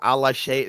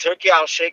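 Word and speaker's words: Turki Alalshikh: Allah Sheikh, whatever. Allah Sheikh. Come on. Wait a minute. It's pronounced Turkey Al Sheikh one.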